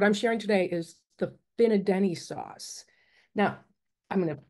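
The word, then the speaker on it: fina'denne': And the but the what's unique, and I didn't do the specific what I'm sharing today is the Finadenny sauce. Now, I'm going to show you how it's spelled because I've been saying it wrong for years.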